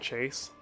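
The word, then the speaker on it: CHVSE: One of my favorite YouTube rappers is a dude named Chase. It's spelled C-H-V-S-E.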